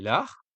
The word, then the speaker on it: Lares: les divinités des carrefours, que l'on appelle les lars. Ça s'écrit Lares.